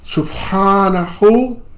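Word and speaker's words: سبحانه: So you should know, again, that it's Subhanahu, Sub, like Subaru, Hanahu wa ta'ala.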